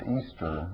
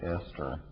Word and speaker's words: Easter: a character in two of my books named Easter and it's spelled e a s t e r about half the people I talk could pronounce it Esther which I've never understood but um I think